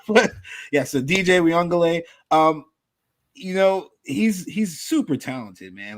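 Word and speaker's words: Uiagalelei: So DJ Uyunglele, I said that right.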